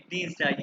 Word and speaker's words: Dienstag: मोंटाग, डनस्टॉक, dine नहीं, Dienstag ये हमने पढ़ा हुआ है। या आई ई जहाँ डी आएगा ई के बाद, Dienstag।